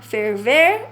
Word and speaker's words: ferver: falarmos assim muito rápido a gente acaba esquecendo de pronunciar os erres finais mas nós temos que observar e fazer de tudo para que isso não aconteça Tá bem então é torrar ferver Ah e não ferver